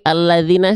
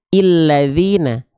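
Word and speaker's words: الذين: perlu Mikir lagi ya oke alladzina saja jangan terlalu kreatif ah Saya pengin karena dia enggak berharakat Saya pengin bacanya illadzina ulladzina Ya gitu oke Kenapa dibaca seperti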